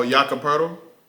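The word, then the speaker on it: Jakob Poeltl: Oh, Yakapurtle?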